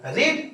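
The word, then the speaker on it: read: रीड। और रीड का third form क्या होता है? रेड। स्पेलिंग वही रीड ही रहेगा। लेकिन प्रोनंसिएशन में हम लोग इसको बोलते हैं रेड।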